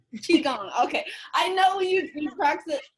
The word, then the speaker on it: qigong: Help me pronounce it. Actually, Qigong. Qigong.